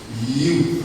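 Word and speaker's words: HU: Mais qu'est-ce que le you c'est le nom sacré de Dieu s'écrit H u et se prononce you comme ceci vous chantez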